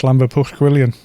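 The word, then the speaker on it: Llanfair Pwllgwyngyll: It's Llanfair Pwllgwilion. That's how they pronounce it.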